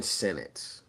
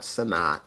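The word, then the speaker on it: Sinnott: say sonat or they say Senate I gotta pronounce his name right it's Ben Senate that's how you say his name he said that it's not sonat sinote Senate he's been dropping some passes so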